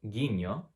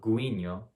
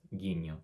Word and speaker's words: guiño: What about this word? If you pronounced it guiño, you're correct. It's not guiño, it's just guiño.